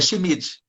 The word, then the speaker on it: Schmidt: Schmidt, não sei como é que é a pronúncia desse nome Schmidt. gringo. Hã? É Schmidt.